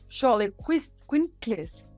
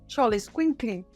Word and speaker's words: Xoloitzcuintli: dog, which is, I have a hard time pronouncing this name, Xoloitzcuintli. Xoloitzcuintli is the original Aztec dog with no hair, and that was the guide.